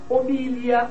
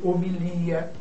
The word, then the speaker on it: homilia: Nós temos Oceânia ou Oceania, Balcãs ou Balcãs, Homília ou Homilia, hieróglifo ou hierol, hieroglifo, projétil ou projetil, réptil ou reptil, né?